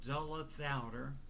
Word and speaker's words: Dulla Thouder: Uh my last name is uh Dulla Thouder and it's pron it it rhymes with the way I pronounce it and not all my relatives pronounce it properly but the way I pronounce it is uh it rhymes with chowder. The last part of it, the last two syllables, the last of four syllables, and the first are duh and la like d uh and l uh so duller.